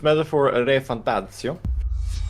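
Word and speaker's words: Metaphor: ReFantazio: Excuse me, it's Metaphor Re Fantasio. Okay. Please pronounce it as such.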